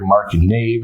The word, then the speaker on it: Marc Nave: this guy right here Mark and Dave is how it's pronounced correct for those people out there wondering